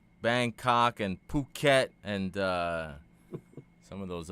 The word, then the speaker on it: Phuket: to pronounce the club fukquet. It's not French. Yes. Okay. I'm not That's what I'm asking, dog. Fuket. Fukquet. Fuket, man.